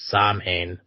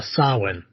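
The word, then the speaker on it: Samhain: Yet, the Halloween holiday has its roots in the ancient Celtic festival of Saman uh, sawin sawin.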